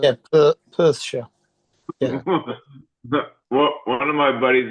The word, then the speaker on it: Perthshire: Yeah, Perthshire.